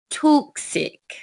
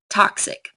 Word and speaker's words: toxic: toxic to your kidneys now if we said it like rule eight we might sound British toxic so let's stick with our American English here and make the O short and split the syllable after the X toxic Vivid a male